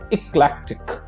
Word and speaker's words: eclectic: Now let us go to the third word, and third word is eclectic. Eclectic. Okay, again look at the pronunciation. Clack के ऊपर हमें थोड़ा सा stress देना है.